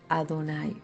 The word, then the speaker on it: Adonai: señor a Don señor se decía mi señor adonay por respeto para no pronunciar el nombre de Dios Y entonces se pronunciaba Adonai mi señor y el